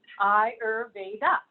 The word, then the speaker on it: Ayurveda: word so I spelled it there for you phonetically hire Veda and Eyre data is comprised of two different